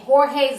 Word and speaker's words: Jorge: guys have not heard there's a man named Jorge Zimmerman who is being attacked and harassed nonstop on Facebook this makes no sense basically people are equating him to George Zimmerman his name is Jorge his name is